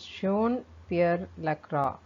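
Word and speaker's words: Jean-Pierre Lacroix: is sean uh it's john uh lacroix and the sorry i think i am spelling the uh pronouncing the wrong correctly incorrectly uh i think it is uh pronounced as shown pierre lacroix and un's department of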